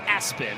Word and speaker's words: ESPN: It's pronounced Aspen, but on his birth certificate, it's ESPN.